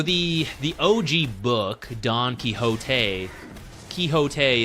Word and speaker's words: Quixote: Yeah, so the OG book, Don Quixote, Quixote is the correct pronunciation.